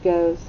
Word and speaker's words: goes: long o and then the e is silent but it makes the sound of what that's right z makes a sound to z now what makes this